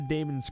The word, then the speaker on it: Daemon: I do remember the Daemon's Court. That is what it's called? Demons. It's Daemon's Court, but it's spelled D-A-E-M-O-N.